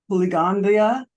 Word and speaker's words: Puligandla: We are thrilled to have Giri Bleandia and he's the executive director of the Canadian Mental Health Association. I hope I pronounced your last name right.